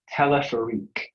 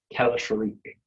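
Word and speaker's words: téléphérique: The word is telephorique.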